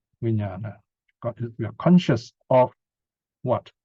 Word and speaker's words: vijnana: And what bhikshus is called consciousness, vijnana. Here is another interesting Pali word. You have vi, pronounced as vi, that's the prefix.